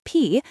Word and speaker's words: phi: In this worldview, spirits called P, pronounced P, meaning ghost or spirit, exist everywhere in rivers, trees, and land itself.